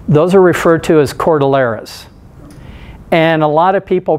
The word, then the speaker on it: cordillera: scale mountain systems those are referred to as chordal eras and a lot of people pronounce it Cordillera thinking it's it's from Mexico and Spanish and